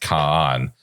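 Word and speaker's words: Kagan: But the G is silent. So it's pronounced Khan.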